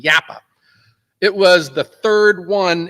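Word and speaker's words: Jappa: company from Finland and the name is yappa it's spelled j a paa you think it's from Japan but it's from Finland yappa it was the third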